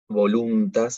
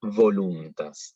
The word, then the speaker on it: voluntas: en este caso, porque no es voluntas, es voluntas. La V tiene que ser con los dientes de arriba sobre el labio de abajo. Y va a tender a sonar casi como una F, voluntas.